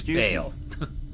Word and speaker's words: Baal: but I'm like dude it's not ball it's baale but Lieutenant lean is